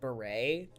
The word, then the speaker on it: Barrett: my co-host mr barrett how are we doing today that is me actually my last name is pronounced beret barrett it's beret like the like the fancy hat the french people wear there was when i